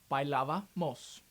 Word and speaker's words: bailábamos: While pronouncing it, just pronounce the "yo" form and then add "mos" afterwards. Example, bailábamos.